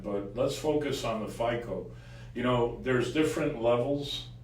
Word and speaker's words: FICO: How how do you pronounce that? We call it FICO.